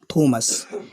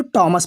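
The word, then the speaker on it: Thomas: ठीक है यह हमारा थॉमस थॉमस हम इसको लिखते हैं थॉमस लेकिन अगर शुद्ध रूप से देखा कि इसको टॉमस पड़ा है बढ़ाता है टॉमस जिया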